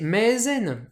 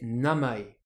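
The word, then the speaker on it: 名前: le nom le prénom ce mot on aimerait bien le prononcer maisen en lecture sinjponaise mais non on va le prononcer Namae tout en lecture purement japonaise pourquoi parce que en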